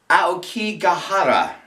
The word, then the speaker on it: Aokigahara: Now the interesting twist to this is she is missing in the Suicide Forest, which is pronounced Aokigahara.